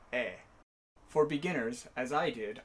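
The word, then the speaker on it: へ: And yes, I know this is not how this character is pronounced. But when it's a particle, rather than he, it's pronounced e.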